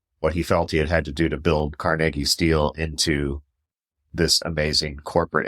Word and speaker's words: Carnegie: going don't you mean Carnegie it's like no it's carnegi that is the Scottish pronunciation but that book argues